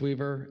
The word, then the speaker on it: WEVR: It's pronounced WEVR, and essentially a studio and a distribution network for VR.